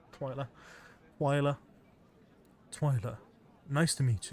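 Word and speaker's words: Twyla: or Wiki Monster High twia English pronunciation twer twiler okay it's like I said then twiler twer twiler nice to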